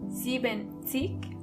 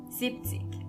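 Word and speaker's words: siebzig: When you want to say 70, you don't say zenik, but you only say zipik. In a way, it does make sense because it's easier to pronounce.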